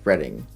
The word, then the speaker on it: Reading: held in Reading Pennsylvania which is apparently pronounced reading apparently I have been wrong in monopoly for years this race is a